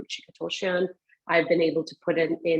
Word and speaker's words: Ruchika Tulshyan: start off a meeting, I'll make sure I'll pronounce my name, Ruchika Tulshyan.